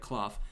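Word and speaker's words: Klawf: down here on these uh so you're battling cloth that's how you say it right cloth yeah cloth and you can and you can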